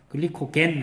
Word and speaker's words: 글리코겐: 글리코젠은 영어고요. 글리코젠 이거는 영어 발음이고요. 글리코겐 하는 거는 독일어나 영국식 영어 발음이에요.